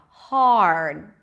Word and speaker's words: hard: in the middle heard the second one has the R as in car hard okay now if you